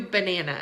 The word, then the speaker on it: banana: The first syllable and the last syllable are not stressed, meaning we don't put our emphasis on those syllables, right? But we do put our emphasis or our stress on the second syllable, right? It sounds like this. Banana, banana. We stress the second syllable because that's how we say that word in American English, banana. So we know the middle